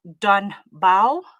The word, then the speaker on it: Don Bau: I've been to Lanesia and mashallah I have to say this spot it's pronounced Donba.